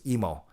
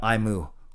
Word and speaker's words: Emo: And if you wonder how to pronounce my last name, of course, it's Emo, like Nemo, not Imu, like a cow.